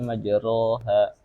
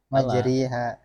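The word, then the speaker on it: مجراها: Majha yang salah malah kalau kita bacanya majroha. Majriha yang benar.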